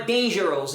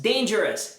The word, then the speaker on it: dangerous: ou s em inglês, não vai ser o som de não é famous, não é dangerous, não é cautious. é famous, dangerous, cautious. Então, toda a palavra que terminei o U vai ser pronunciada como us.